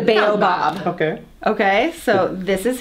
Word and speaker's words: baobab: Okay, we call this Bob. But the Bob is spelled B-A-B. So it's the Baobab.